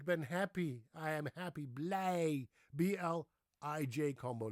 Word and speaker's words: blij: How do you pronounce it? Idge or Eege? No. Are you ready for this? It's pronounced A. IJ is an A, as in ik ben